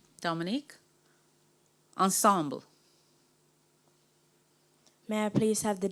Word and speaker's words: ensemble: also be used as an adverb am I pronouncing the word correctly ensemble yes Ensemble e n s e m b